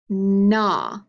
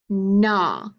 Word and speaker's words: gnaw: Gnat, gnaw, gnome. Can you repeat them with me? Gnat, gnaw, gnome. That's right, you hear that n sound at the beginning again.